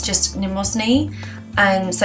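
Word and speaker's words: Mnemosyne: goddess um and then you don't pronounce the m it's just nemos knee and so it's just goddess numosni and the reason like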